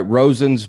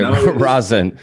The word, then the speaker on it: Rosen: Rosen's Bagels. You nailed it. Most common mispronunciation, people go Rosen, like R-A-W. Rosen. Okay. Rosen. It is Rosen.